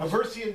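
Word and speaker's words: Haversian: And the reason I asked you about the Avestion, is that how you say it? Avestion canal? Aversian canal.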